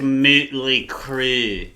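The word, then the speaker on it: Mötley Crüe: It's pronounced Moohtley Kru.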